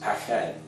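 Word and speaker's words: פחד: to represent fear, and one of them is pronounced pached, which means fear, dread, terror, or to be startled.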